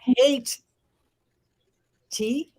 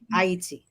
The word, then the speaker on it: Haiti: It is not hate T, it is I-E-T. Haiti.